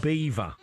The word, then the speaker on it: Belvoir: Belvoir Castle, as you pronounce it, Andy, pronounced Beaver. Okay. Beaver Castle, which is great